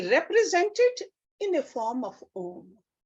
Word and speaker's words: Om: in a form of om it is made up of three sounds it's like when we look at it phonetically it's like a a like ah then it's like a U and then m but then between the